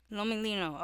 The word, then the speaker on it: Lomelino: I do not want to mispronounce it. Brenda Lolino. Lomolino.